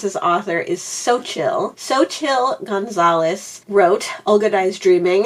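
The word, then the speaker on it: Xochitl: Sochill Gonzalez. Sochil Gonzalez. Sochial Gonzalez. Okay, so it seems like the consensus of how to pronounce his author is Sochill.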